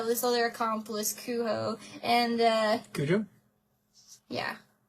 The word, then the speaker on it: Cujo: I don't think it's pronounced like that because it's not English. It would be pronounced with an H. Kuho.